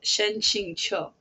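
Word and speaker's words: Shen Qingqiu: name wrong um so I think I say his name Shen but his actual name pronounced correctly according to the pronunciation guide before I get murdered um in the comment section is a Shen Ching Cho by the way just a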